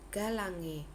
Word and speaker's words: galangae: Contoh, jika ada huruf AE dibaca sebagai E. Contoh, galangae. Cara membacanya adalah galange.